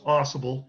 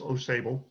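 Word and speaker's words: Au Sable Forks: forks New York right through here now it's pronounced aible in Upstate New York it is not pronounced OS uh and I I have personally been there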